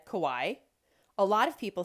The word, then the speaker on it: Kauai: Kauai is the garden isle, known for its gorgeous Napali coast. Did you notice how Jen said Kauai?